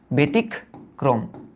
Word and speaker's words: ব্যতিক্রম: কারণ এই যে জফলার পরে দেখো একটা রস্বই আছে, যদি রস্বই থাকে তাহলে ওটার উচ্চারণ এর মতো হয়, বেতিক, বেতিক। তারপরে কি? ক্রম, বেতিক ক্রম, বেতিক ক্রম।